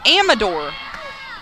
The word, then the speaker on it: Amador: podcast this week and she corrected us on her last name she says that the pronunciation guide is wrong and it's Amador fun fact Maggie Hudson